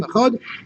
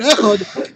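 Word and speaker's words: אחד: Well, really, the dalet, the real way to express the dalet is soft. It's soft. Yeah. It's really a chav.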